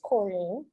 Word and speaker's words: Corinne: my comedy yet because a lot of people call me so i always have the audience say my name wrong and i correct them on stage um i'm uh i'm